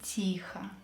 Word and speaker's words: Тихо: В комнате было темно и тихо. It was dark and quiet in the room. Тихо. Quietly. So E is stressed, O is not stressed. Let's pronounce it as A to sound like native.